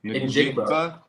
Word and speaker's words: Njigba: Njigba.